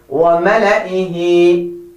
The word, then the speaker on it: وملئه: Oops, I made a mistake and I did it on purpose. So be careful. Say وملئه. وملئه.